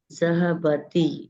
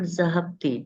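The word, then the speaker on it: ذَهَبَ: on one of them so we are putting zahaba it is not zahi don't get confused it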